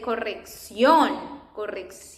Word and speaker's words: corrección: That accent is an emphasis we do in the pronunciation of a word. For example, here that we say corrección. And it's because of this accent that we put that accent there, corrección.